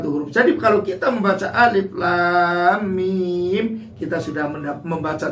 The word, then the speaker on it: Alif Lam Mim: Ada alif lam mim, tidak dibaca alama.